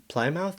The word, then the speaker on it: Plymouth: And then, Plymouth Plymouth, that's that's how it's pronounced. Anyway, Plymouth had its wettest January in 104 years.